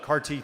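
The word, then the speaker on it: CAR-T: the trend lines for how more frequently this CARTT therapy is being offered as an appropriate treatment in a lot of cancer cases.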